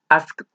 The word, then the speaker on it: asked: Al ser un verbo que su sonido final no utiliza las cuerdas vocales, porque pueden intentarlo con su garganta, ask, no hay vibración, entonces se pronuncia con T. Asked, asked, una T.